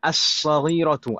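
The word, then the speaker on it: الصغيرة: Jadi kalau kita baca kalau misalkan tanpa kata sebelumnya dan setelahnya, as-saghiratu, alnya sudah tidak terbaca.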